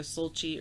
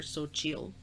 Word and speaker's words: Xochitl: I mean, you could say the L at the end. It's either Sochi or Sochil.